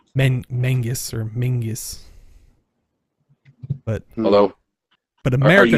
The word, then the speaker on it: Menzies: Yeah, it's old Scottish word. I think it was some clan or something like that, but it's based on their old alphabet or something like that. I think the letter was Yog. Yeah, Yog. Something like that. That makes the Z sound, or what looked like a Z. Looked like a Z. Yeah. Yeah. Made it sound like this Menzies.